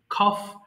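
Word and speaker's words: cough: আছে খফ মানে কাশি খফ কাশি কে কে খ উচ্চারণ করবেন খফ কাশি ডাম বোবা এখানে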